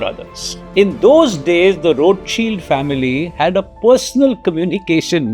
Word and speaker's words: Rothschild: Call them Rothschilds or call them road shield. I'm told a more appropriate pronunciation is road shield because they had a family insignia which was a red shield.